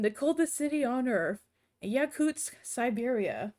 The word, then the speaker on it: Yakutsk: Presents how to pronounce Yakutsk. Yakutsk. Yakutsk. Build this word from the stress syllable Kutsk. Try Kut, Kuts, Kutsk.